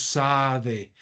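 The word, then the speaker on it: שָׂדֶה: si te das cuenta la palabra está compuesta por dos sílabas sa de Qué quiere decir esta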